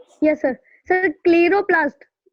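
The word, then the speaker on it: chloroplast: क्लोरोप्लास्ट में? यस सर। सर क्लीरोप्लास्ट। क्लोरोप्लास्ट, हाँ Clairo नहीं है, क्लोरो होगा जी।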